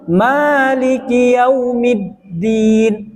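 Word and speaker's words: مالك يوم الدين: atas ra juga selanjutnya Maliki yaumiddin middin di atas huruf Dal terdapat tasdid middin selanjutnya iyyaka na'budu Wa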